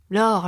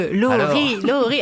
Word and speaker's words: Lorie: Laure. Voilà. Alors que Laurie, alors que Laurie, 2 syllabes, c'est quand même plus facile.